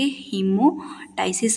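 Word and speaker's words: hemoptysis: अगर ब्लड स्पटम में प्रेजेंट हो तो इस कंडीशन के हीमोसिस बोलते हैं। यहां पे पी साइलेंट रहता है।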